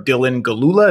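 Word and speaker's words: Dylan Gelula: an outstanding actress whose name I'm going to mispronounce, so I don't even want to try, out of courtesy to her. Dylan Galula, is that right?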